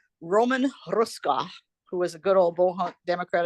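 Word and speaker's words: Hruska: he called Roman Ruska who was a good old Bohawk. Democratic Bohawk. Yes. His name is spelled H R U SK A but it's pronounced Rushka.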